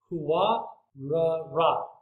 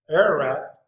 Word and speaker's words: Huwa-ra-rat: Then he took from them, an ark settled on one of the mountains of Huwa-ra-rat. So not Ararat, but Huwa-ra-rat.